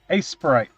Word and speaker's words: Aseprite: This program is a sprite. It is spelled ASEPRITE.